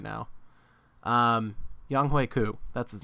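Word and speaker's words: Younghoe Koo: tight end we got tj hawkinson kicker whoa yong ho let me try that again wait how do you pronounce it i'm like what's that like what's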